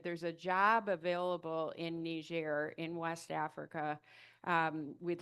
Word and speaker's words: Niger: just a second and say I'm saying Nishair. Um we typically here in the United States say Niger but it is a foreign uh colony of uh France and so Nishair would be the pronunciation. That's how Nerians say it.